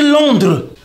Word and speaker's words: Londres: On dit Londres.